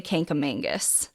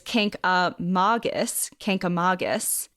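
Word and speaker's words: Kancamagus: grown up in New Hampshire and we say Canam Mangus this is wrong officially officially it's Kus Kus and I will do my best to pronounce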